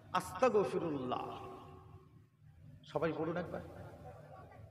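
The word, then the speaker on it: أستغفر الله: ত আকার ক আস্তাগফি খবরদার ক বলবেন না এই ক উচ্চারণ করা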